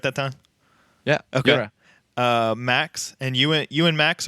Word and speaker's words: Yura: Yura.